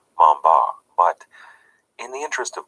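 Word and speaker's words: Montbars: was French after all his last name was pronounced something a little closer to Mamba but in the interest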